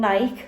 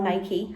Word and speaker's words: Nike: But I just had a delivery from Nike, or Nike, however you want to pronounce it.